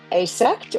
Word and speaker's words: AASECT: And is this like AASC certified or would it be asex or can you tell me how to pronounce that properly?